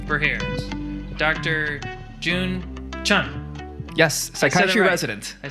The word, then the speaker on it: June Chun: all right we're here Dr June Chun yes psychology resident I said it right only